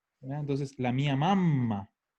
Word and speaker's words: mamma: Porque insisto que el problema del italiano es que si yo no pronuncio las dobles, puedo estar hablando de otra palabra. Y de hecho, mama es del verbo mamare, que es mamar.